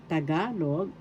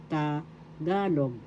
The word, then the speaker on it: Tagalog: Tagalog the second syllable ga is where the accent is. So that's how it is pronounced tagalog.